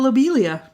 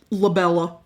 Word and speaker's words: lobelia: I'm going to talk to you about lobelia.